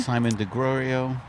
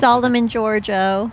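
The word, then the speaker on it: Solomon Georgio: So Simon DeGrorio. or whatever the hell, how to pronounce it. Solomon Giorgio.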